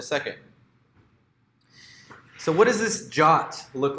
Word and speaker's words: JWT: so what does this jot look like you'll hear this pronounce is Jaques JWT which just stands for or